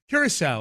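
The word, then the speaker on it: Curaçao: Curacao, okay. And I've never known how to pronounce it.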